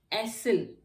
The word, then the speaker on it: aisle: अगर L से पहले S लगा हुआ है तो हमेशा साइलेंट होगा। कैसे? एसल, AISLE। अब ये आपने SL नहीं पढ़ना है, क्योंकि L से पहले S है तो ये साइलेंट हो जाएगा, ये हो जाएगा L।